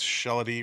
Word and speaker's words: Shelley: That's Shelley rhymes with melody.